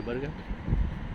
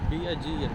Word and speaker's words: Bergen: Some people say Bergen, some people say Bergen. It's the, I believe it's Bergen. it's the right pronunciation for the local people is Who cares? Bergen. Bergen. But most of the English or the foreign people will say Bergen. Bergen. Yeah. Who cares? The spelling is Bergen.